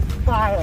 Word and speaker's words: spile: It's called a spile. Have you seen this before? Okay, I want you to remember this name, spile. S-P-I-L-E. It rhymes with smile.